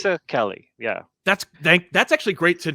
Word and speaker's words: Mazzucchelli: told me it's like pizza and zucchini. Okay, so it's Mazzucchelli. Mazzucchelli, yeah.